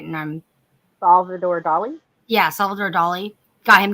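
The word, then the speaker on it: Salvador Dalí: got um doll he got actually got uh savvy Dolly I'm trying to say his name right and I'm Salvador Dali yeah Salvador Dali got him to play the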